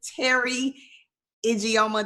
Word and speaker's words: Teri Ijeoma: super excited to have you on today, Miss Teri Ijeoma.